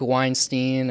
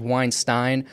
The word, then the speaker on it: Weinstein: miss say it because it's not supposed to be like Harvey Weinstein so I think it's Weinstein so I apologize Brett